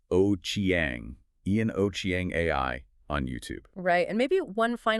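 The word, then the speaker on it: Ochieng: That's spelled O C H I E N G and pronounced O Chiang.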